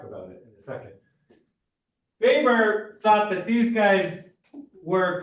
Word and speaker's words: Weber: Weber, we spell it Weber, but we pronounce it Weber in sociology. That's the German way of pronouncing it.